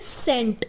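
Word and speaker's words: scent: पर साइलेंट है यह जैसे सेंट तो सेंट में भी सी ए रहा है लेकिन यहां पर भी हम सी को नहीं बोल रहे हैं यहां पर सी क्या है साइलेंट है हम क्या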